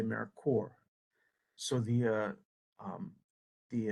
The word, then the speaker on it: AmeriCorps: we pronounce americor so we do not say americor americ corpse we say americor so the uh um